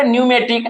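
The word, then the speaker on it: pneumatic: सी क्या हो जाएगा न्यूमेटिक तो देखिए इसको हम लोग पढ़ते हैं न्यूमेटिक लेकिन यहां पर पी हमारा क्या है साइलेंट है तो यहां से एक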